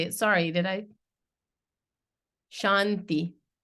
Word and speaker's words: Shanti: it sorry did I Shanti the t is soft here now there's four types